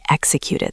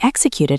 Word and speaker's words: execute: Execute. It has that K and S sound mixed together. Right. Listen closely, listeners. Execute. The stress is on the first syllable.